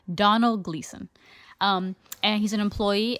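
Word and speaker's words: Domhnall: I couldn't remember how to pronounce it. I called him Dom Hall. I just looked this up on YouTube on how to pronounce his name. He's Irish, so he's got an Irish name, and there's letters in there I'm not sure which to pronounce.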